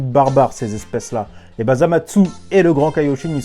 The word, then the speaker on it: Zamasu: Voilà, c'est Zamatsu, faut le prononcer comme ça parce que c'est quelqu'un qui rigole pas. Apparemment il a pas le temps.